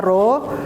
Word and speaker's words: rho: Besaran turunan lainnya yaitu gaya, yaitu massa dikali percepatan gravitasi, dan yang kelima di sini massa jenis dengan dibacanya itu yang seperti huruf P itu dibacanya adalah rho.